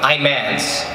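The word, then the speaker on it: Imanse: Imans. Imans? Spell it.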